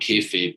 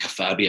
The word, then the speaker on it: kayfabe: It's called kayfabe, but I couldn't pronounce it. It wasn't written phonetically. So I was decided I have to keep kafabi.